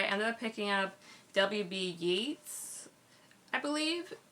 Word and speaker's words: Yeats: Yeats, I believe it's pronounced, but he's an Irish poet, and this is like a pretty thick collection of like all his poems.